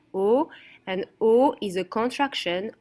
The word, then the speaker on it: au: Au restaurant, so AU in French is pronounced au, and au is a contraction of à le.